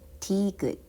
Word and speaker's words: 디귿: And this one is 드, 드, which is called 디귿, 드, 도서관, 도서관.